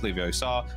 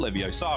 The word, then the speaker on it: Leviosa: Vanguardium Leviosa, and it is pronounced Leviosa, not Leviosa, friends.